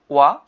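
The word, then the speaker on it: は: যে নাউন 1 বা subject plus ওয়া পার্টিকেল প্লাস নাউন 2 বা অবজেক্ট প্লাস দিস। ওকে, এখানে দেখেন ব্যাখ্যাগুলো দেখেন। আমাদের হিরাগানাতে আমরা হা পড়েছিলাম, সেটি এখানে ওয়া উচ্চারণ হবে।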